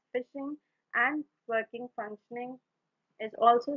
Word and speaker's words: phishing: if it is insecure basically facing is pronounced as fishing and working functioning is